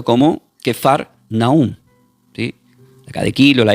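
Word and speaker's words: כפר נחום: Capernaún, esta palabra del hebreo se pronuncia como quefar naún.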